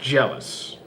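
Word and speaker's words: Gelus: The Shinigami, which name was Geluz, is pronounced jealous.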